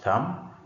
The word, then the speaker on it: thumb: So in the word thumb, B is also not pronounced.